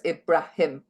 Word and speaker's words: Ibrahim: spelled o n r and Ibraham is IB r a um H so it's ibraim ibraim or just Google Google